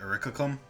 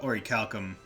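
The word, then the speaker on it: Orichalcum: game it's like oh so that's how it's pronounced because i always called it urikakum but uh oricalcum makes a bit more sense um so do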